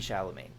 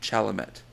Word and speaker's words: Chalamet: him say his name Timothy shalaman no Timothy chalamet actually and then you're adri